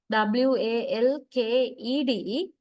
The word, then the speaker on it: walked: And uh walked w a l k e d in writing in speaking this ed is pronounced mostly as t sound walked but talked t